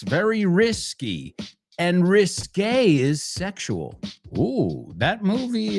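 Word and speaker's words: risqué: However, there's a word that we get from French if I'm not mistaken. And that word is r i s qu u e. And this one is pronounced risque.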